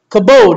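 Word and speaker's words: כבוד: like it because uh it's called kabode kabode is how you say it kabode and it reminds me of kapow that's fine kapow it's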